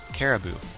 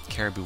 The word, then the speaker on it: Caribou: sahoshi guess who's listening in in the background Caribou I hope I pronounced his name right c a r i